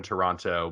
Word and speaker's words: Toronto: who aren't from here we actually don't pronounce the second t so oh toronto toronto no just toronto not no second t